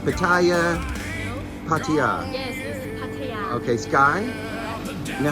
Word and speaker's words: Pattaya: I'm constantly saying Pattaya, and it's not. It's Pataya.